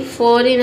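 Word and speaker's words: foreign: देख सकते हैं कि फॉरेन हम यहां पे जी को पढ़ते ही नहीं ठीक है? फॉर रीन फॉरेन इस तरह से एन डी प्रोनाउंस नहीं करते हैं।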